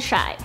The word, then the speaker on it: Chi: Kim has even broken down the name into a nickname she tweeted- North Saint and chi // pronounced shy.